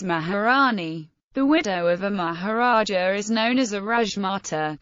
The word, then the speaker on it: Maharaja: and religious offices although the fact that in Hindi the suffix a is silent makes the two titles near homophones atmology the word Maharaja